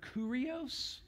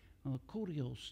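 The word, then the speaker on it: κύριος: Lord um is is the Greek word curios okay and I'm not going to say it like like because I listen to some of them online it's like cuos you know I'm just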